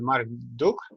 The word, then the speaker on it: Marc Duch: We are here we are here tonight with Marc Duch. Am I pronouncing it correctly?